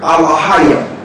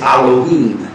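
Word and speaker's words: אֱלֹהִים: Now when you see that word us, it's a plural word, alahayim, or the modern day Yiddish pronunciation is Elohim, which is plural, or gods.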